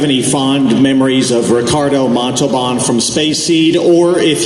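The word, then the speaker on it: Montalbán: First of all, you're not pronouncing his name correctly. Okay? So I want you to say after me, Ricardo Montalban. Montalban. No, Montalban. Montalban. There you go.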